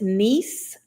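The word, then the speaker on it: Nice: I figure I've been to cons, and to help you out, Keith, is niece. That is how you say it.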